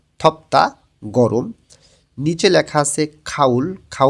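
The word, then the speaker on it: 덥다: ব বাচ্চিমের পরে যখন দিউত আসে তখন দটা অনেকটা তয়ের মতন উচ্চারণ হয়, থপ্তা গরম।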